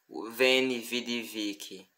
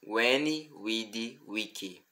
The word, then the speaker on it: veni, vidi, vici: uma palavra com V, devemos lembrar que é a letra U. Por exemplo, na célebre frase de Júlio César, ou melhor, Julius Caesar: eu vi, eu vim e eu venci. Não pronunciamos veni, vidi, vici, e sim veni, vidi, vici.